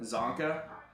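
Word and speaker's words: Csonka: Is it Sanja? Is that how you say it? Larry Sanja? It's spelled C-S-O-N-K-A is how they spelled it. Zonka?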